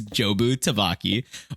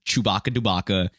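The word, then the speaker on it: Jobu Tupaki: not just saying gibberish it's jobu tavaki or as michelle yo his character um says a lot just mispronounce it as chewbacca dubaka uh jerky shibuki it's a bunch of garbage so what i mean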